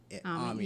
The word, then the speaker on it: Ami: Well, for Ami, and this is the French pronounced Ami, yeah, but not it Amy. looks like Amy.